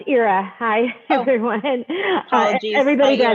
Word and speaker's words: Ira: It's Ira. Hi, everyone. Apologies. Everybody Hi, does Ira. it. Don't worry. It's spelled IRA.